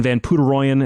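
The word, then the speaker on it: Van Poederooyen: signal and and and ryan van puteroyen is how you say his name uh it's spelt there's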